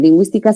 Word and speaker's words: lingüística: En cambio, en lingüística sí, porque se pronuncia la U y tenemos el mecanismo de colocarle la diéresis sobre la U, ¿no?